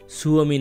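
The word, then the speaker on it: Suomi: আমরা ফিনল্যান্ডকে খুব সহজে ফিনল্যান্ড বলে চালিয়ে দিলেও ফিনিশ যারা লোকজন আছে অথবা ফিনল্যান্ডে যারা জনগণ আছে তারা ফিনল্যান্ডকে সুওমি নামে চেনে।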